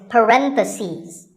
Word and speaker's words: parentheses: If you're talking about both, the plural is parentheses. The last syllable becomes ses.